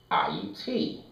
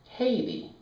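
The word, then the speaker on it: Ayiti: Now, in the language of the people of Ahiti, the pronunciation is Ahiti. It is not Haiti.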